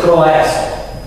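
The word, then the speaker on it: croeso: Скажіть, це дифтон. Кройсо. Це олі. Це е, чи це родове, скажімо. Читається кроесо. Кройс. Це просто дифтон.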